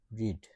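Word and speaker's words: read: তারপর হচ্ছে গিয়া এখানে আছে কি রিড, ঠিক আছে, রিড, তারপর হচ্ছে গিয়া রেড, হ্যাঁ, পাস্ট টেন্সের উচ্চারণ হবে রেড, তারপরটা হচ্ছে গিয়া আবার রিড।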